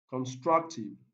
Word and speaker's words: constructive: a different stress pattern constructive constructive this one takes the stress pattern or the primary stress on the second slit which is struct structure okay option b